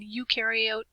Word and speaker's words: eukaryote: Eu in eukaryote rhymes with do.